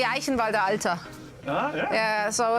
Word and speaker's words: Eichenwalde: because i am unfortunately the only person who can pronounce uh eichenwalde so oh yeah ha yeah in germany the german equivalent will be eichenwalde yeah yeah so it's